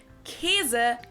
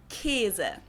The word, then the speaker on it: Käse: Or the word for cheese that I personally and also many other people pronounce more like Käse than Käse, which is how it's spelled.